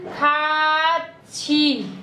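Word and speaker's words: 같이: अहिले बुझिराख्नु होला खाछी यसको उच्चारण खाछी हुन्छ किन भन्नुहुन्छ भने यो जुन यो थ छ माथि यस्तो थ प्लस ई भएको अवस्थामा यसको उच्चारण छी हुन्छ है यो माथि गएपछि यसको उच्चारण छमा परिणत हुन्छ है त्यो अवस्थामा छी हुन्छ तपाईँहरू यसमा नझुकिनु मैले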